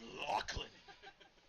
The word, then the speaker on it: Lachlan: I do believe you're supposed to pronounce Lachlan a certain way. Lachlan.